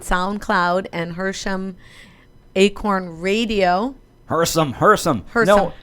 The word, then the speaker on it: Hersam: Hersome. Hersome. No H in there. No second H if I can say it right, Barbara.